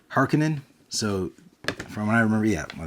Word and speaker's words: Harkonnen: How do you pronounce? Harkonnen.